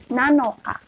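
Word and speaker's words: なのか: baca lainnya dari nama Nah untuk tanggal 7 ini pakai Nana Tapi di belakangnya diubah sedikit jadi nanoka jadi tanggal 7 bahasa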